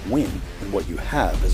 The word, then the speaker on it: Nguyen: could be that with the name pronounced twin and what you have